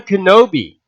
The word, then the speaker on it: Kenobi: Obi-Wan Kenobi rhymes with shinobi.